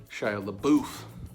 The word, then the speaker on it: Shia LaBeouf: lad and his real the real pronunciation of his name is Shia LeBouf so that's probably something